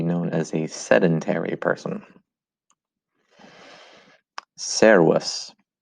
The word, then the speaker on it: Servus: Servus. Servus. Listen to this again. There's that V sound in there.